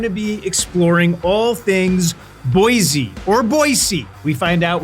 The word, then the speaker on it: Boise: of the way early is it Boise or boisey or how do you say it it's boisey boyy Idaho no Z involved got it boyy Idaho